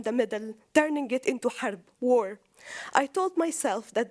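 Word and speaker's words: حرب: In Arabic, the word love means, it's pronounced HB, hub, and harb, war, it's actually HRB.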